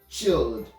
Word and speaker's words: chilled: Our second example is going to be the word chilled.